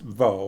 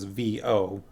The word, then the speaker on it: Vo: And I'm assuming it is actually pronounced Vo. All it is V-O. So I don't know, maybe it's like woe or something like that, but I've been saying Vo.